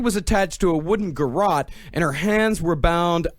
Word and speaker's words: garrote: was attached to a wooden, how is this pronounced, garrote? It's garrote.